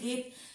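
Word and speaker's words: get: follow করা দরকার ছিল, বাট গিভ গার্ল গেট কোনোটাই কিন্তু এটা জিভ বা জল বা জেট বলি না, জয়ের উচ্চারণ বলি না, কি গয়ের উচ্চারণ করি আমরা, এগুলোতে গয়ের উচ্চারণ করি,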